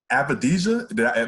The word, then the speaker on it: Avdija: And correct me, you picked Deni, I think, Avdija. Am I pronouncing that correctly?